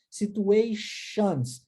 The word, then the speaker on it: situation: a palavra situation e Aqui nós temos uma pronúncia por ter com som de X situation acontece também com a